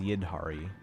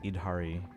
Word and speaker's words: Yidhari: It's spelled as Yidhari, but it's Idhari. So, just learn the name, Kaizen. Yid, like Yi Dhari, H A R I, and then just say like Idhari.